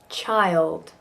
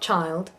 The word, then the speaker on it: child: Child. Really 2 syllables there, because we just put a Y and a schwa in there. Child. So it's not child. Child.